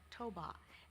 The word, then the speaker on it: Toba: I belong to the ethnic group Batak with Toba, pronounced Toba, as its sub-ethnic.